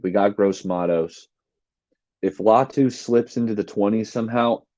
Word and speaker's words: Latu: correction from Shard Dizzle he said it's latu I appreciate that latu